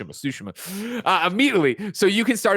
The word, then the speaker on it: Tsushima: Hey man, they're driving it home, and I keep changing the pronunciation because I go back to what's wrong and try to get back to what's right. Tsushima.